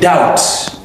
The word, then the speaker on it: doubt: anan na daya nace doubt doubt shine b din da ita ce silent ba za ka ce